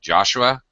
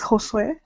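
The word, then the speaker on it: Josué: Just let me quickly welcome Joshua. Is it Joshua? Or Joshua or Joshua? Hello. Hi, Hi. What's your name? it is Josue. Josue. Josue. Okay. Yes, Sorry, I'm mispronouncing your name.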